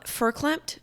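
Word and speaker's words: farklempt: the Yiddish word ver is pronounced with an F I must have said ver like I just read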